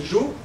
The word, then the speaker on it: eo: Eo se prononçait « jo », et suite à un nouvel affaiblissement, se prononce « je ».